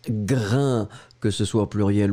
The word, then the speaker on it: grain: Donc, le S final n'est pas prononcé. A-I-N. Ça vous donne le son 1. Et donc, on prononce grain.